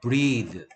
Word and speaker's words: breathe: 자, breathe일 때는 EA가 E 발음 나고 있죠. 그 다음에 TH가 Z 발음 나고 있습니다. breathe.